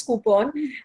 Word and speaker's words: coupon: fake an accent but the actual pronunciation is coupon and a lot of you know salons and restaurants have started using it.